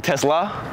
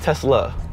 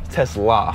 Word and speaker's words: Teslaa: It's not Tesla. Tesla. Tesla. Yeah.